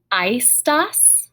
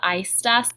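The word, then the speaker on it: aestas: and then we have ice ice remember that ae is that i sound i stuss this is a feminine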